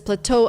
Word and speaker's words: plateau: stress the second syllable we have to stress both syllables and say pla Plateau so what